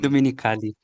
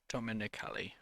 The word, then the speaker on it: Dominicali: Today you're joined by me, Daniel, and Dominicali. Is that how you say it? Yeah, almost there. Almost, yeah. Awesome. But yeah, you can check out your work at Dominicali. Is that it? um, Dominicali. Dominicali.